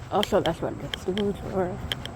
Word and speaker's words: Rouge River: Rouge River. Also, that's what it is. Rouge River. I keep want to call it Rogue River, but it pronounced Rouge.